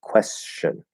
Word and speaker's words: question: i might not actually i might either very lightly touch that t position and not actually completely close it or just completely ignore the t position and make it into more of just an sh and say question question i have a question question question and that's perfectly fine especially in faster speech there's nothing wrong with that so you can do s plus c h or s plus sh and it doesn't matter